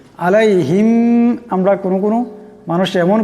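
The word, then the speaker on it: عَلَيْهِمْ: এমন করে পড়তে হবে আলাইহিম আলাইহিম এখানে আইন আছে আওয়াজটা গলা থেকে আনতে হবে আলাইহিম আমরা কোন কোন মানুষ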